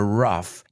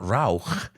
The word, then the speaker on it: rough: pronunciation of that word it's not Rauch it's rough tough cough laugh but they don't sound like Ugh they sound like an F sound laugh cough rough tough